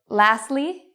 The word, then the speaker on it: lastly: So if you see S-T-L, F-T-L, these are signs that you usually pronounce the T. What are some examples? Well, you can pronounce the T. Lastly, you could also say lastly. It's okay either way. Justly, mostly, softly. You can say it with or without, depending on where you're from.